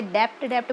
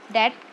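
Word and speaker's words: debt: पद्धति parts date-equity ratio यह भी साइलेंट होता है कुछ बच्चे डेबिट बोलते हैं it's called S डेट डेट equity रेशों फिक्स टोटल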